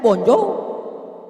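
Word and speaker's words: bonjour: Emangnya bahasa Prancis mudah tulisannya bon J bacanya bonjou bonir bon jangan pelajari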